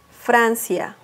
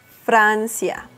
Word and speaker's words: Francia: do you say friends in Spanish France is Francia Francia United Kingdom or the UK the name of